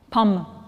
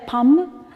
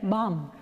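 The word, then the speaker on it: pomme: you know apple in french what it is pronounced palm right but somehow because for vietnamese people when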